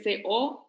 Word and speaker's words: coertio: Esa fue nuestra notio, vocatio, esa fue la segunda, coertio, que es la tercera, que se escribe C-O-E-R-T-I-O, coertio.